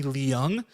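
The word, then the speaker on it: Leung: his last name is closer to the word learn with a g on the end of it but the g is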